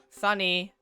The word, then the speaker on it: Sunny: that is my name Sunny rhymes with honey I'll be a new